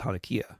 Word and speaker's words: Hanukkah: of Hanukkah or that Hanukkah was actually pronounced hania in Hebrew the youth Le presentation